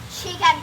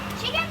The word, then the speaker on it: Chihkan: The right The right answer is actually It sounds a little bit like chicken tower, the animal one.